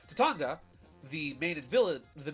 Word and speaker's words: Tatanga: Tatanaga, or Tatanga. I'm sorry, I always mispronounce it. Tatanga, the main villain of the game, is an alien who flies around in a little spaceship, right?